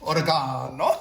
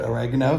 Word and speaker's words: oregano: And then I have oregano, I guess if you pronounce it that way, but oregano for us in California and the rest of America, oregano.